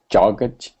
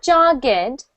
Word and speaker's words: jogged: that whole sentence again uh jogged not jogged that's two syllables let's try it one